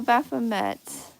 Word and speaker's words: Baphomet: Oh, Baphomet is how the name is pronounced.